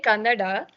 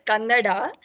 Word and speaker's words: Kannada: Why did I name my session as Kannada Gothilla? First of all, Kannada itself is wrong. You're supposed to say Kannada.